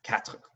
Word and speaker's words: quatre: So an example of dropping the or in quatre is quatre. They don't really go with the or much at all there.